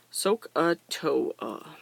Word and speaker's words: SOHCAHTOA: opposite over adjacent and the pronunciation guide is a soak a toe a so sohcahtoa soak a toe and another visual of